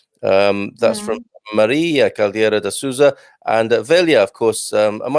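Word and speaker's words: Sousa: Just because it's a very common name in Portuguese, and I always hear people saying Souza instead of Souza. There's like a diphthong sound in there.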